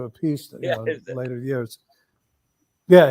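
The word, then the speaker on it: Appice: martel and carmine and apacie at the time he changed the pronunciation to a piece yeah in later years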